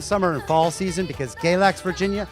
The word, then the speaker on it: Galax: that's why that's why we named galax because it rhymes with relax it doesn't really rhyme but it's close enough it's like barn and farm it's a near miss galax relax yeah you kind